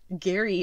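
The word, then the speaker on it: Gerry: baton handoff to gary jerry duggan i have yet to figure out which which way that's pronounced gary i feel like is probably right right because jerry would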